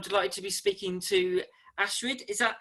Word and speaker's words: Astrid: to be speaking to Astrid is that how you pronounce it yes that's one way to pronounce it that's good how do you pronounce it it really depends which language you're using my dad is German